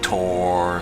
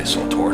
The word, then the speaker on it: SWTOR: I'm aware some of you prefer to pronounce it Tor, some of you prefer to pronounce it something else, but I say SWTOR, so you gotta deal with it.